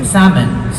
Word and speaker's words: salmon: resporialonsor salon salmon salon you don't pronounce the letter L it's salmon salmonon not salmon salmonon